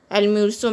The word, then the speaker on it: almuerzo: Almuerzo means lunch. Z is pronounced as in Spanish. Z is pronounced as S in Spanish, so it is pronounced as almuerzo.